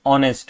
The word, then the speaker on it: honest: Okay because uh because you know although the word is h but the pronunciation is honest which is o right.